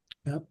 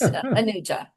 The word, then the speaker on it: Anuja: Ya, am I pronouncing your name right? No, it's Anuja.